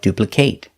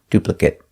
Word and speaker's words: duplicate: to know the pronunciation if it's a verb pronounce it with a long a like duplicate if it's not a verb pronounce it with a short sound duplicate if you like this